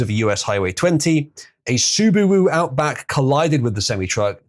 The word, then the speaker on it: Subaru: Subaru. Jesus Christ. What? Yeah, that's how it's pronounced.